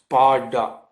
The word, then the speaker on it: Sparta: but it is pronounced the t is pronounced like d so it is pronounced parda and I will just